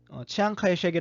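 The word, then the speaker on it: Chiang Kai-shek: 총통이 라고도 알려져 있구요 영어로는 치앙 카이 섀기 라고도 알려져 있는데 그건 이제 중국의 사투리 민 난 방언으로 익었을 때 이렇게 발음이 되요 그리고 중국어 발음 그대로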